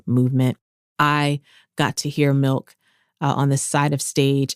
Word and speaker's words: MILCK: So for this week's Give Her a Crown, I want to give a crown to Milk. And Milk is spelled Milck.